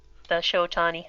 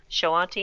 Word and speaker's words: Shoanti: It's I don't know how familiar you are with the Showatani. Showatani? Is that how you I'm pronounce going that? to say Showatani? Shawanti. Shoanti, excuse me.